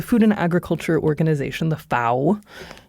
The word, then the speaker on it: FAO: So the Food and Agriculture Organization, the FAO, I pronounce it the way that they pronounce it in Italy because the headquarters are in Rome. FA rhymes with cow.